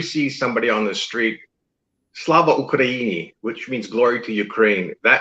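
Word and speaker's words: Слава Україні: How do I pronounce that again? Slava Ukraini? Slava Ukraini. Slava Ukraini.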